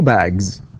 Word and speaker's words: bags: alright, one bag, two bags. لاحظ ج is voiced, سنقول تنطق الأس تنطق إيش ز، فنقول bags, okay, bags, and one book, two books.